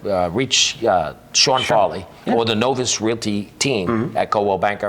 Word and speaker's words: Novus: Novus is NOVUS, and it's pronounced Novus, not Novice. If you call me Novice, just call somebody else.